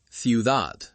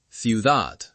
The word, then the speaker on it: ciudad: Finally, the soft D between vowels. Cuidado, ciudad, salida. It sounds like a very soft th in some accents. Cuidado, ciudad, salida.